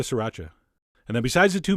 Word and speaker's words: sriracha: going to add the same amount of si ra cha which is how i've been told to pronounce it three distinct syllables si raucha although you know what that sounds kind of weird i'm going back to sriracha and then besides the